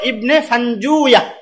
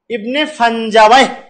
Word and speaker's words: ইবনে ফানজুয়া: হ্যাঁ, যেটা হলো সেটা হলো ইবনে ফানজুয়া। আসলে হলো কি হবে? ইবনে ফানজুয়া। এটা আরেকটা উচ্চারণ আছে, ইবনে ফানজাওয়ায়, 2 ভাবে উচ্চারণ করা যায়, ইবনে ফানজাওয়ায় বা ইবনু ফানজুয়া, রসই অন্তস্থ আকার হবে।